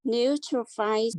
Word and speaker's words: neutrophils: Neutrophils. New. It is tro, not try. See that? Neutrophils. No, this is fill, not five. Fill. Like you fill up something, right? Fill. So Neutrophils.